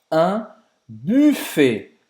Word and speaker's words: buffet: Porque em francês, como é a pronúncia? Un buffet. Buffet. Você faz 0 U com biquinho.